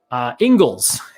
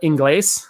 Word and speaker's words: Ingles: And I did go to a grocery store down there called Ingles. It's spelled like Ingles, but it's Ingles.